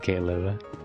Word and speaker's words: Caleb: Caleb, not Caleb, but Caleb.